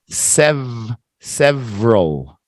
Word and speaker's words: several: that Donnie several several let's make it in two syllables several yeah well that's three syllables right you can say several if you want several but most people we don't say that we just say Sev several two syllables try again Daddy several